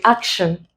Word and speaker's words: action: So we look at this word action. The sound at this syllable contains is a very, very weak sound. Very, very weak. So it's hardly ever stressed. That means the stress is here.